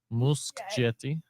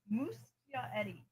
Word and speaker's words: Muschietti: is how do I pronounce how do you pronounce Nywin? What? What did you just say? Nguyen. Nguyen. Nguyen, yeah. Nguyen. Muschietti. Musk what? Muschietti.